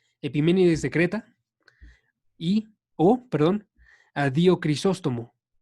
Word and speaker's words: Epiménides: Epiménides de Creta a Dio Crisóstomo.